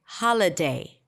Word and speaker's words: holiday: if we reduce it does it sound okay holiday yes and it's even better holiday now I